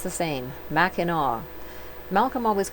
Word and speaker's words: Mackinac: Believe it or not, they are all pronounced the same, Mackinac. Malcolm always called it Mackinac Island, but when we saw it on a map, I thought he made a mistake. Many visitors mispronounce and say Mackinac, like I did, and you will hear it